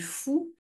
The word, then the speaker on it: Faou: Voilà, l'idée aussi, pour découvrir le parc naturel régional d'Armorique, nous, on est basé sur la commune du Fou, enfin, qui s'écrit Faou, vous croyez qu'on est fou.